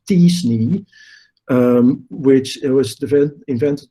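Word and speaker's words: t-SNE: used a data science technique that i'm told is pronounced as disney which it was the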